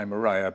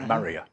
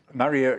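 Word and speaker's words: Murraya: leaf tree which is maria some people say moraya but i'm told that if since it's named after mr murray it should be pronounced maria maria konnigei and it grows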